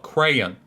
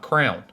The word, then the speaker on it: crayon: don't do it correctly it's called crayon with a y not crown like a king wears all right what do